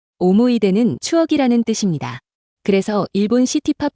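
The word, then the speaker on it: 思い出: 그런데 끝에 있는 스가 없어지면 이걸 오모이데라고 읽습니다. 오모이데는 추억이라는 뜻입니다.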